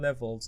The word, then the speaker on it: levels: So the S, it's pronounced Z.